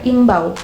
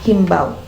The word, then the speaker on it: imbau: adalah Seruan untuk sesuatu karena betul dalam KBBI adalah imbau bukan himbau kenapa ya bisa jadi ditambahkan bunyi hak atau Huruf H pada penulisan dan pelafalan andal dan imbau Nah itulah yang akan